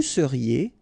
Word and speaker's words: seriez: Vous seriez, EZ at the end, et seriez.